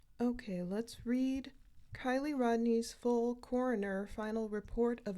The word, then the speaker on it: Rodni: okay let's read Kylie Rodney's full coroner final report of Investigation I just received today Thursday October 13th so the final classification is an accident for Kylie Mai I believe it's pronounced Rodney born September 1st 2015.